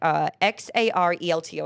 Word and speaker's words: Xarelto: Bayer, which manufactures branded drugs like XARELTO. I don't know how to pronounce that.